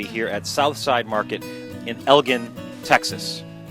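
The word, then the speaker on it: Elgin: good we're now in the town of Elgen spelled e-g i n not pronounced elen Elgen Texas Southside Market since 1882 they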